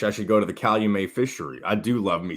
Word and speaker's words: Calumet: farm i guess not so it's how you met and not call you may yes well left you